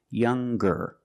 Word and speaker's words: younger: When we change these adjectives with eer or with est, we're going to pronounce the g sound, the hard g. So, it's younger with a g sound.